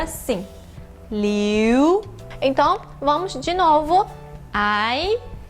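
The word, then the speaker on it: 柳: E a última palavra é o ideograma da árvore salgueiro chorão e ele tem a pronúncia de liu.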